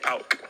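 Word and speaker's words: PAOK: Your Arsenal career came to an end and you signed for, how do you pronounce the Greece side? Pauk.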